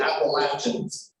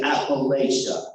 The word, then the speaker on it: Appalachia: Now, some people who are not familiar with my section of the country say Appalachia. That's not, no, don't say it. That's not how you say it. You say Appalachia. If you say it wrong, I'll throw an apple at you.